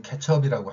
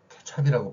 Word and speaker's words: 케첩: 그래서 우리의 일본어 발음에 영향을 받은 거, 우리는 분명히 케첩이라고 할 수 있음에도 불구하고 케찹이라고 발음하는 사람이 많이 있다는 얘기예요. 발음을 아 발음으로 표기하는 이 원리가 우리는 어라고 할 수 있음에도 아라고 발음하는 이 원리가 우리가 만든 걸까요?